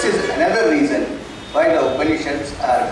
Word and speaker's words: Upanishad: It consists of 3 syllables. Upa, Ni, and Shat. These are the 3 syllables that form the Upanishad.